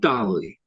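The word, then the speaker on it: DALL-E: everybody away a few months ago was called Dolly it's not spelled like Salford her golly it's spelled like a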